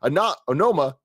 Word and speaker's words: Onoma: Onoma, that's how you say it.